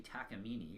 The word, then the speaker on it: Takamine: as the Takamine ins and yes it is pronounced to actually tack emini even though its spelt Takamine it's pronounced Takamine